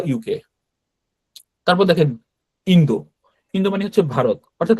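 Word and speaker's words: インド: তারপর দেখেন Indo. Indo মানে হচ্ছে ভারত। অর্থাৎ আমরা ইন্ডিয়া বলি কিন্তু জাপানিরা ইন্দো বলে।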